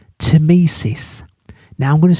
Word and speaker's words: Tmesis: down, in nice clear writing, a word called Tmesis. Now I'm going to spell it for you.